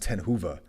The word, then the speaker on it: Ten Hoeve: So like it's supposed to be pronounced Ten Hoeve.